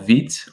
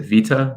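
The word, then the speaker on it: Vite: i experimented with recently was this tool called veet or you might pronounce it vita but it's vt and it uses a tool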